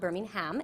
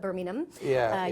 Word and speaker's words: Birmingham: the University of Birmingham, not Birmingham, Alabama, but Birmingham, UK. I have a lot of English friends that pronounce it correctly.